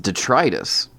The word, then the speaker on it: detritus: You ever heard of the word detritus? Yeah, what is that? It's like garbage? Yeah. Apparently, it's pronounced detritus. Yeah, that is one of those you hear sometimes. No, apparently I've been saying it wrong forever.